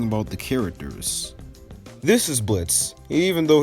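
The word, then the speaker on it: Blitzø: This is Blitz, even though his name has an O in it like Blitzo, but the O is silent.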